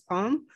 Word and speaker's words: Palme: That's why our name is Palme. Wow. If you see that there's an E at the end, it's because it's written in French and we don't pronounce the E at the front.